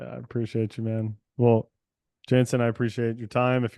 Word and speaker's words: Jantzen: find you my Instagram my name is spelled kind of weird but it's Jansen j n tzen